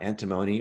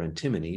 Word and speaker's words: antimony: all kinds of cool things to talk about antimony or antimony depending on how you want to pronounce it so this is a little off